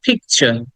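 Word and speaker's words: picture: কিছুক্ষণ আগে আমরা পড়েছি টি এর পরে যখন ইউ থাকে তখন সেটাকে আমরা চ এর মত উচ্চারণ করি আমরা কিন্তু ট উচ্চারণ করি না একই রকম এই কারণেই আমরা বলবো পিকচার পিকচার লাস্টের আর টাকে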